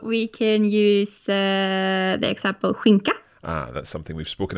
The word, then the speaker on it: skinka: So we can use the example skinka. Ah, that's something we've spoken about in our Coffee Break Swedish lessons. Skinka, so ham.